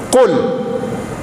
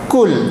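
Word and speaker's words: قُل: Contoh, Qul. Qul itu apa maknanya? Qul itu maknanya, katakanlah, kalau membacanya tebal, Qul, di dalam, maknanya katakanlah. Tapi kalau dibaca tipis, maka dia berubah makna. Kul, makanlah.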